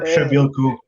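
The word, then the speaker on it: Przybyłko: On a de la misère à prononcer son nom. C'est Kasper Shabilko.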